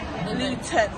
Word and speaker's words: Luton: But we don't pronounce our things. Luton.